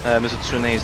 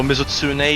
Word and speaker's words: Mizutsune: Yeah, so Mizutsune, you should pronounce the E at the end, not Mizutsune.